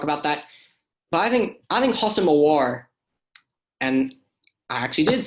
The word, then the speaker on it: Houssem Aouar: But I think Houssem Aouar, and I actually did say his name correctly.